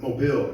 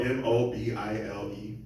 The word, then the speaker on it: Mobile: Just so you know, Mobile is spelled M-O-B-I-L-E. Yes, we all say it wrong. We all say Mobile. The first time I ever heard it pronounced correctly was when I actually moved to Washington. And the girl said, "Oh, are you from Mobile, Alabama?"